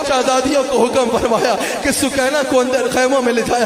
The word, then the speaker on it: سکینہ: حضرت سکینہ سلام علیہا، سکینہ کہا جاتا ہے، اصل میں نام سکینہ ہے، سکینہ اصل تلفظ سکینہ ہے، حضرت سکینہ سلام علیہا